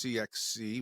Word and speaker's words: CIXCI: and founded the CXC which is spelled by the way C ixci but it's CXC which I've learned over the time so um why don't